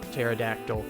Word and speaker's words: pterodactyl: right then the pale pterodactyl actually no ter it's the ale pterodactyl holds what looks to be a metallic tray on a stick good one pee is silent doesn't mean all peas are silent good morning class ah